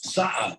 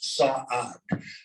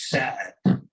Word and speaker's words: Saad: My grandfather's last name was Saad, and that could be spelled S-A-'AD because it's two syllables, Saad. But that name becomes Sad in America, and part of the family changed their spelling to S-A-D-D, Sad. And properly it should be Saad.